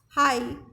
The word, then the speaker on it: high: High, G is silent.